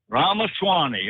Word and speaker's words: Ramaswamy: I think that's how you pronounce his name. Ramaswamy. And what? Ramaswamy.